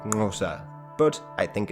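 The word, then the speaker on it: Xhosa: the local San people hence kosa is usually pronounced something like Nosa but I think it's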